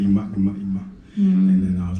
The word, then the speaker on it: Iman: Okay, so wait, I have a video for how is it pronounced? Iman.